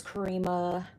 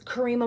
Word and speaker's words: Karema: Her name is Kareema uh let me make sure I'm saying it right. Her name is Karema Morris.